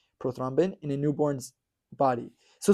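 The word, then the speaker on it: prothrombin: and published something incredible about the level of proin uh proin oh no s I'm saying it wrong proin proin it's a kind of hard word to say prothombin in a newborn's body so scientist basically came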